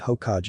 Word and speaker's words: Hokage: about becoming Hokage and it's not Hage at Hokage Hokage you will say it